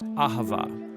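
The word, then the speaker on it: אהבה: languages as it is in ancient Hebrew it's pronounced Ahava it most basically refers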